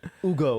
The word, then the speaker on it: Hugo: I thought you meant like I thought you meant like Hugo with a silent H. Ugo, like they say in French.